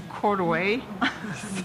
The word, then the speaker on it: Courtois: Une rivière qui s'appelle Courtois, et qu'on dit ici Courtway, c'est tout à fait différent.